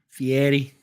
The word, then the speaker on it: Fieri: huh Guy Fieri okay guy Guy Fieri yeah Fieri that's right you gotta say it right if